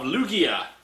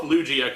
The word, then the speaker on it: Lugia: a Pokemon coin of Lugia. Or Lugia. I keep forgetting how they pronounce that. I'd hope Lugia, because Lugia sounds too much like Loogie.